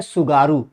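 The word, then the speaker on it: Tsugaru: है उसका नाम है सुगारू। टी साइलेंट है, इसमें ध्यान रखिएगा, सुसीमा में भी टी साइलेंट था, ठीक।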